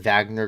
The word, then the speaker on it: Wagner: Wagner but it's in Wagner group it's pronounced with a V and they conduct clandestine